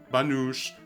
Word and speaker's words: Banosh: wooden spoon or don't pronounce it Banosh like the mountain folk do, chill out.